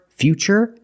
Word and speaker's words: future: That's right, it's ch, because we see T-U-R-E, we pronounce the T as ch. And we see T-U-R-I in futuristic. Again, the T is pronounced with the ch sound. So the first word, future, and the second word is futuristic.